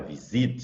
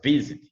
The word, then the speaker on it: visit: Você não fala visit, você fala visit, visit. Então, olha, no visit, você, mesmo terminado consoante, vogal, consoante, você não vai dobrar porque a sílaba forte está no início, ali está no vi, visit.